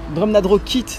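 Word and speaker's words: Drumnadrochit: Drumna Droshit d'ailleurs, comme il faut le prononcer.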